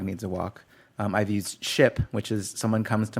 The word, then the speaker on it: Shyp: yeah, It's called it's Ship. It's With a Y.